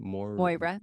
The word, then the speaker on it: Moira: Moira, Moy like boy.